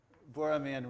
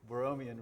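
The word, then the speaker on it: Borromean: three circles this is called the boraman Rings or borian rings I think both pronunciations are sometimes used they have the property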